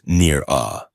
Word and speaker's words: Nira: "It is pronounced Nir-ah," she corrected, her voice flat. "And it does not rhyme with anything in your language."